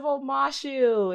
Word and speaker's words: Omashu: say it yes it's the great city of omashu it was named after the two lovers I